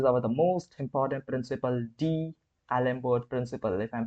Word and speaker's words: d'Alembert: remember this is our the most important principle D Alber principle if I'm pronouncing it right d Alber principle okay there